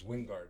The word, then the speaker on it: Wingard: It's Wingard.